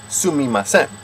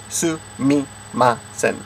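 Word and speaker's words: すみません: kind of thing, then you would just say, Sumimasen. Now wait a minute, before you get that in your head. People say Sumimasen. The technical correct pronunciation is Sumimasen. Sumimasen.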